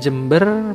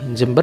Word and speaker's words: Jember: Menariknya tidak hanya grafim, tapi fonemnya juga sama, yaitu jem, bukan jem. Bahkan meski sudah memakai ejaan baru, yaitu tidak menggunakan DJ tapi J, kebanyakan masyarakat lokal asli Jember masih mengucapkan Jember, bukan Jember.